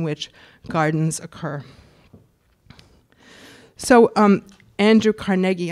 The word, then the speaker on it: Carnegie: So Andrew Carnegie, I'm going to pronounce it Carnegie because everybody was impressing on me that you can't say Carnegie when you're talking about him.